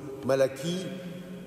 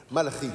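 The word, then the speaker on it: Malachie: Donc on en a discuté avant, je lui ai dit écoute, ça se prononce en hébreu comme ça, et il nous l'a fait, bravo. Malchi donc.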